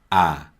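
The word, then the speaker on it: ㅏ: to the right is ah ah and it's similar to the a sound in the word matt matt ah is written like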